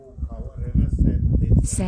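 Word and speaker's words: Säntis: สวิตเซอร์แลนด์ เค้า เรียก ภู เขา อะไร นะ แซนทิส แซนทิส ค่ะ ชื่อ ก็ คือ อัน นี้ เลย พระ อาจารย์ นั่น โยม ออก เสียง ประเทศ นี้ เลย แซน จ้ แซนทิ แซนทิส นะ อ่า เนี่ย ค่ะ ชื่อ มัน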